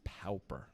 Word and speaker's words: Palpare: i want to live the popper life for a while it's pronounced palper ah the power problem palpare that's a frenchman yeah danny's gonna raise